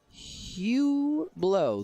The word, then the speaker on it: Hublot: true texting optional hublot hugh blow the t is silent in hublot i think pretty sure